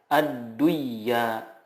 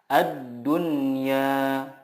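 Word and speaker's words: الدنيا: Contohnya ad-dunya, tidak dibaca ad-duyya, tetapi yang benar adalah ad-dunya.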